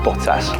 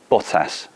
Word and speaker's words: Bottas: a house on fire I've been practicing my pronunciation in Finish of your name don't if you can give me a mark out of 10 B botas pretty good it's I give you eight for that so let's see by